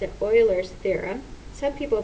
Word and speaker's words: Euler: here is a theorem this is pronounced several different ways I was taught to pronounce it Euler's theorem some people pronounce it Euler's theorem so Euler's theorem